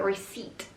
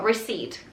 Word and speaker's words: receipt: second one is a receipt the p in it is silent so we don't say it so we just say uh receipt it's the P that